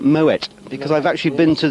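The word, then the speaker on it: Moët: maui in actual fact you don't pronounce it murray you pronounce it moet because i've actually been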